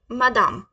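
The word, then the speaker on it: madame: मैडम सो हम मैडम French में कैसे बोलेंगे मादाम इट्स मदम I know it's very simple okay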